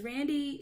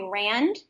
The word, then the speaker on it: Randi: It's funny because a lot of people will call me Rand Uh because huh.